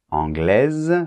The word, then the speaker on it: anglaise: adjectifs à la prononciation par exemple anglais masculin anglaise féminin c'est très important que pour le féminin tu prononces bien le ze de la fin c'est-à-dire le S pour le masculin le S la lettre S est en position finale donc comme généralement les consonne elle ne se prononce pas anglais quand on rajoute la lettre E la lettre E en position finale est muette mais attention la lettre S n'est plus muette parce qu'elle n'est plus